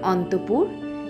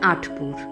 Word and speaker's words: আটপুর: ভিডিওর শুরুতে আমি বলেছিলাম অন্তপুর, সেটি ভুল। জায়গাটির নাম অন্তপুর নয়, নামটি হচ্ছে আটপুর।